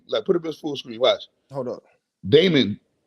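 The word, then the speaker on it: daemon: screen watch hold up damon damon it says right there damon computing yeah the entire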